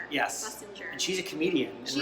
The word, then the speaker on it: Schlesinger: You're going to have to help me pronounce her last name. Schlesinger. Yes. Schlesinger.